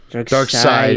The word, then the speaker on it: Darkseid: Dark Side. It's written seed. It's Yeah. pronounced side.